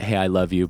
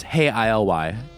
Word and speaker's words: Hey, ILY: psychokinetic love songs and the way the band usually spells their name is hey ILY you know I pronounced it hey I love you but it's hey ILY so you can go